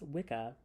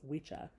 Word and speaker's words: wicca: the wise people spelled w-i-s-c-ca this word often pronounced Wicca is the old word for a male witch however today we mispronounce this word as it would have been pronounced by the Saxons as wicha where w-i-c-a means a male witch w-i-c-c-e means